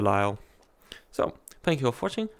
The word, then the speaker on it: De Lisle: Lyle regatta despite the fact that it's spelled del Isla it's the Lyell so thank you for